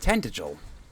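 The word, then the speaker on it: Tantegel: Please, you must make for tantra. You must do all that you can. Okay, so it's pronounced tant. The world rests with me. So, apparently it's pronounced tentigil.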